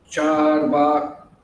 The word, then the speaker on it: Charvaka: In the purport, he said that Charvaka, that's the intonation. That's the pronunciation. The matras, long A's, charvaka, two long A's.